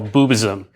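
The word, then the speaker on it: Bubism: mentioned, like to call boobism, which rhymes with cubism, of course, but it's not cubism.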